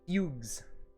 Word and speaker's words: Fugue: Fugues. There you go. I figured, but always forgot. Fugue. I guess if there's only one, it would be fugue, right?